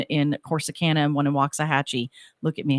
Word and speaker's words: Waxahachie: If you're not from Texas and you first come here and you look at the sign, people say Waxahachie, but I've learned to say Waxahachie because it's the correct way to say it.